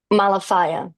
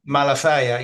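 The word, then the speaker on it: Malafaia: How do you say his name properly? Malafia. Malafia, yeah. Malafia, these are bad people.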